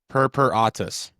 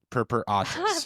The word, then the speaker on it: purpuratus: Purpuratus. Purpuratus.